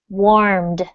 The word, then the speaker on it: warmed: So, Salvatore, we're going to work on our final D pronunciation sounds. So this word is warmed.